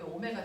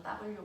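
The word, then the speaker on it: ω: 알고 있는 것처럼 여기 오메가 집어넣 심이 선 속도는 각속도에 반지는 곱한 값이니 RW V RW 이거 밖에나가서 W 그러면 안 돼 오메가라고 읽어 됐어 보이는 되겠습니까 그래서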